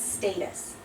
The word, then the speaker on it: status: St status status it's status and a t between two vowels twice but could but seriously can't become a d so it's a status